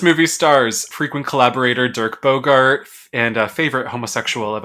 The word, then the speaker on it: Bogarde: This movie stars frequent collaborator Dirk Bogarde and a favorite homosexual of us. Also has... Did you say Bogart? Bogarde.